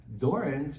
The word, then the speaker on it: Zornes: Sam Zorens, rhymes with thorns.